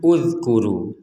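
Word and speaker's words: اذْكُرُوا: Maka kita di sini membacanya uzkuru.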